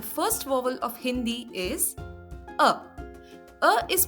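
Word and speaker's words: आ: Next is A. A is pronounced as the pronunciation of A in the word father or fa.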